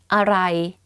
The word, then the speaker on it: อะไร: So, อ ร่ อ ย อ ร่ อ ย อ ร่ อ ย And you say it faster, aroi. But don't confuse this word to what, which is arai.